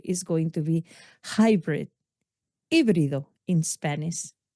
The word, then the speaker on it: híbrido: That word is going to be hybrid, híbrido in Spanish, because we don't pronounce the H. The H is silent.